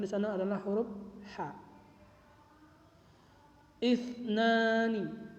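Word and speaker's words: اثنان: Isnani, isnani, isnani, yaitu huruf sa-nya itu titik 3, huruf sa kecil bertitik 3 di atas.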